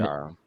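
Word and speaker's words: Mounjaro: But her mom last month revealed she's on Manjaro. Is that how you say it? Yeah, And Manjaro.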